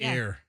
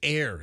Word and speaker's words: heir: Is it spelled like hair, or is it spelled like hair like a rabbit? Or hair like an heiress. It's that would be heir, not hair. Heir? Yeah, it's heir.